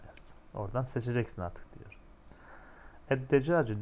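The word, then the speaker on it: الدجاج: Eddecacı, decaç tavuk demekti. Edde. Lam okunmadı. Lamdan sonraki harf şeddeli okundu.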